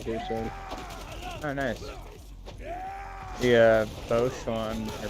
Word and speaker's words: Bosch: The Bosch one, or Bosch, that's how you say it.